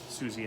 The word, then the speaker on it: Siouxsie: I mean, it's pronounced Siouxsie, apparently, but I was like, Siouxsie and the Banshees, and all my friends thought I was an idiot for calling him that. And I said, no, you're an idiot, because there's an X in there, and you always pronounce X and S together.